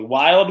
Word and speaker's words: Wilde: Wild with an E, Burley. So wild is spelled with an E. The E is silent for wild, but Burley is not a silent E.